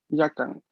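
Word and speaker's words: やかん: Ok, solo atención que no es una sílaba larga al inicio, es yagi, yakyu, Yagi. yakan. Aquí se había sílaba larga, pero con la U, ¿vale?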